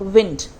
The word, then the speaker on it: wind: आप इसे वाइंड मत बोलना। वाइंड अगर हम इसको प्रोनाउंस करेंगे स्पेलिंग तो यही होगी ऑफ कोर्स,